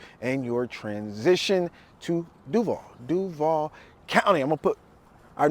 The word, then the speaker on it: Duval: Duval County. I'm gonna start with that. Just, you know, that's the way we pronounce it here. It's not Duval, it's Duval.